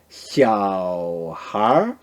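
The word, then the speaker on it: 小孩儿: 小孩 이렇게 같이 연결하면서 小孩 이렇게 발음하면 됩니다.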